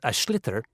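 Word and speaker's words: sliotar: get this ball called ash litter that's SL IOT a or so it's not spelt the way it's pronounced u his ears into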